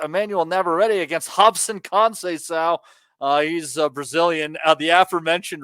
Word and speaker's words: Robson: Emmanuel Navarrete against Robson Conceição. He's Brazilian. The aforementioned Rob, the R at the beginning is pronounced like H-ish.